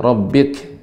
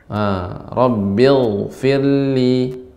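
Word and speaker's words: رَبِّ اغْفِرْ: Jadi tidak Rabbik atau Rabbigh, enggak. Dia naik Rabbil. Nah, demikian. Rabbil. Rabbil firli.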